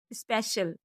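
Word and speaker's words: special: ओ यू D cloud P का अगला rule है पी के बाद आई ए या आई ओ आए तो सी का उच्चारण श होता है जैसे एस ओ सी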